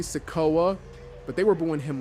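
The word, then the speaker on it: Sikoa: booing solo and also you guys told me I've been pronouncing his name wrong I don't know why I was saying sea but it's definitely seoa but they were boo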